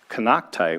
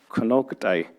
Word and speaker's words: Kanakta: languages different perspectives so kanakta which in our language is actually pronounced konokudai means old mountain women